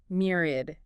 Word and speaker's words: myriad: Myriad. MYRAD. MYRIAD. 3 syllables. Stress on the first.